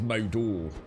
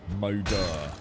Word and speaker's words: Moder: Moder, is it? Moder. Is that how it's spelled? M-O-D-E-R. Moder. I thought it was Modor. Hodor. Moder. Moder. Mother, as people have said.